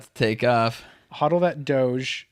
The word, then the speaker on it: Doge: Hodl that Doge. Don't pronounce it Doja like Mark Cuban and Ellen did.